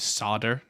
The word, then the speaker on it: solder: a fair point but solder to be fair no you're saying that right i don't know where it is how do americans say it is it west coast people would call it sodder ah sodder yeah there's